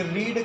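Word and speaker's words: read: Spelling same होती है, spelling same होती है और प्रोनाउंसिएशन बदल जाता है। जैसे अगर आपसे कोई पूछे कि रीड का तीनों फॉर्म बताओ, तो रीड, रेड, रीड, स्पेलिंग यही रहेगा, प्रोनाउंसिएशन अलग रहेगा।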